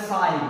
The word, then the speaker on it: sign: साइलेंट का मतलब इस जी को बोलना नहीं है। अब इसको क्या पढ़ना है? साइन।